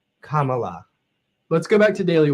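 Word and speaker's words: Kamala: grandmother she'd say K I usually help people pronounce it by saying well just think of a comma and a la at the end Comm La let's go back to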